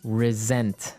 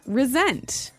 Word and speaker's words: resent: said I resent that resent resent okay now this is spelled exactly like resent like with an S right that's right re s n t but you pronounce it like a z mhm resent resent that